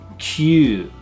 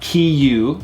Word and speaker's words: kyu: 9 is kyu, kyu. Not kiyu, but kyu.